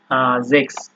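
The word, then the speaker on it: sechs: আপনার যে জেক্স তো এই এস এর উচ্চারণ আমরা যেহেতু বললাম সবসময় এটা আপনার জ এর মত হবে মানে জিহ্বার অগ্রভাগ দিয়ে বলতে হবে জেক্স আচ্ছা তার পরবর্তীতে আছে হচ্ছে আপনার সেহা তো এটাও আপনার অনেকটা কনফিউজিং।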